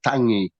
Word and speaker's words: tangi: The first word is tangi.